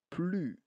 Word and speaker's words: plus: c'est pas plus là c'est plus le S mué pas de s j'écris S mais je ne prononce pas le S d'accord exemple je ne